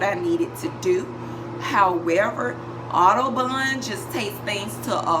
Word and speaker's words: OdoBan: right here yes so i pronounce that autobahn sometimes i pronounce the autobahn it just really depends on how i'm feeling that specific day also depending on what part of the world you're in will more than likely determine how you will pronounce the name of this particular product